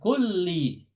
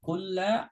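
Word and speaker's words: كلِّ: kulli ya kata kulli huruf terakhirnya lam itu harokatnya kasroh ala kulli gak boleh dibaca ala kulla ala Kullu nggak boleh Harus ada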